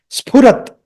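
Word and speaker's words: स्फुरत्: Pa, pa. With the lips you have to make that sound. PH sound or pa sound is with the lips. Not with the teeth and the limbs. Not with the teeth. It's not a dental sound.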